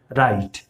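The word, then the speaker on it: write: तो जब भी W के बाद R हो तो जो W है वो साइलेंट हो जाएगा, उसका प्रोनाउंसिएशन में कोई भी सेंस नहीं आएगा। जैसे इसको हम पढ़ते हैं राइट, तो राइट में कहीं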